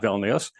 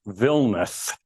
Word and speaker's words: Vilnius: It's not Vilnius, it's Vilnius. You do not pronounce the second I in Vilnius, which, you learn your first day in town.